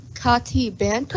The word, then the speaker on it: Katie Benton: Kati Banto?